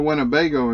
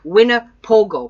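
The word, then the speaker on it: Winnipogo: F heard and a Winnebago Americas as well we're not talking about RVs this is not the RV well it sounds like the Winnebago RV and but it's called wina Pogo pardon me I pronounced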